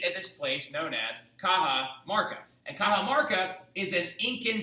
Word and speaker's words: Cajamarca: plan was to meet at the city called kaha marca right so do me a favor and put